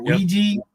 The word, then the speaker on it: Ouija: I've always wondered, how do you really pronounce that? Is it Ouija or Ouija?